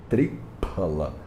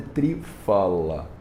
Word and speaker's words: triphala: A palavra é tripal. A palavra fruta significa pala. É escrita com esse P aí. Então o remédio chama triphala. Triphala. Não é trifala.